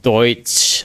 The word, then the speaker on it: Deutsch: The oi sound comes from the German you pronounce it oi. Oh, like Deutsch. Ah, I see, yeah, Deutsch. Like the German Deutsch. Yeah, it is EU in the German.